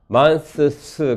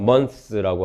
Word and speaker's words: months: 인터덴탈 프리커티브 스드는 탈락 과정을 겪을 수가 있다. 그것들이 alveolar 프리커티브 스즈 앞에 나타날 때 closed 이렇게 발음하지 않고요. close 스즈 앞에 인터덴탈이 탈락합니다. months 그렇게 발음하지 않고요. 그냥 months라고 합니다. 다 발음하면 발음이 상당히 힘들거든요. 그래서 months라고 해야지 편리합니다.